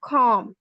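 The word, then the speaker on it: calm: For example lamp and कॉम। ठीक है? इसके अलावा एल का मौजूद है हमारे पास। व्हनेवर L comes before after a. सो वी डू not pronounce L. For example काम एंड हाफ।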